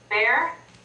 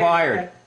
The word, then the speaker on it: Byard: You guys can pronounce, what was it? Bear? I'm Byard. Byard.